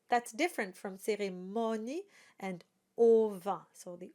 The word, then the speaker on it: cérémonie: So it's an a sound, cérémonie. And the o is open, so it's not cérémonie, it's cérémonie. And the E, of course, at the end is not voiced, it is silent.